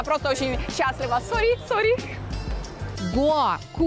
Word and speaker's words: Гоа: Многие туристы говорят «Гоа», но это неверно. Правильно ставить ударение на букву «О» – «Гоа».